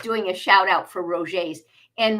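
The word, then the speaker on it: Roget: a shout out for Roger's and Rogers is spelled r-o-g-e-t it's a French word um but they have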